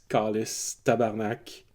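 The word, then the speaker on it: câlice: Um, so Kalisak, they're all religious object that you'll find on an altar, but the pronunciation is slightly different. The accents aren't put at the very same place.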